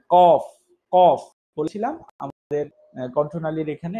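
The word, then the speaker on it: قاف: অফ, এটার উচ্চারণ হচ্ছে জিহ্বার গোড়া থেকে একটু আগে বাড়িয়ে তার ঠিক বরাবর উপর গোড়া তার বরাবর উপরে লাগিয়ে উচ্চারণ করতে হয় কফ কফ।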